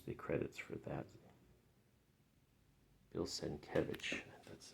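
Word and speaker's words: Sienkiewicz: you go here's the credits for that bill senke that's how you say his name there's scarlet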